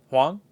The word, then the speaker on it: Huang: I always forget how to pronounce his last name. Anyways. Hong. Okay. Huang? Anyways. Huang.